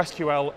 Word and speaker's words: SQL: there's actual bit of debate over how I should pronounce this I call it sequel injection the acronym is SQL whichever way you call it it's a way to